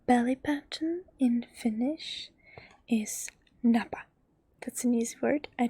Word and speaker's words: napa: hips and your belly button in Finish is Napa that's an easy word I don't have it here version because I didn't find space for it but it's n a p a Napa belly button Napa and your butt is